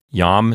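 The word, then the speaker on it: iam: Yam is one syllable. Notice that yam starts with a consonantal I.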